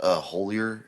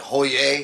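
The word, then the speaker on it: Hollier: That dude I had yesterday, I said, "Is your last name pronounced Holier?" And he said, "Actually, because he's from Louisiana, he said, actually, Holier? it's like Hoyer."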